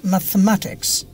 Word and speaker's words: mathematics: যেমন ধরো সে খালাজি, আমরা বাংলাদেশের কি বলি, psychology, সাইকোলজিয়া, But the pronunciation will be? Psychology. No, psychology. Psychology. Exactly. How about mathematics?